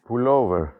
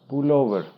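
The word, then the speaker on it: πουλόβερ: Pullover, sweater. The most important. Pullover. Pullover. Not pull over. Pullover. Sweater.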